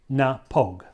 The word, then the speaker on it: Knappogue: county clare ireland the nepogue castle now it's pronounced na pog so n-a-h-p-o-g-u-e napog is the phonetics of it and that name means